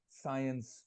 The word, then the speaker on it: science: Can you just pronounce science for me? Science. Science. Yeah. We need to hear the S at the end.